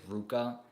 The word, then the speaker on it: RVCA: they fit yeah it's it's RVCA but also some people pronounce it Ruka like a lot of the times it's written like with what looks like a V and I'm not like